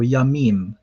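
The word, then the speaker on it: ימים: Okay, so Yamim. So it's Ya, Mim.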